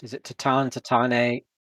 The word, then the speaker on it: Tatane: Okay, so how is Tatane pronounced? Is it Tatan, Tatane, Tatan?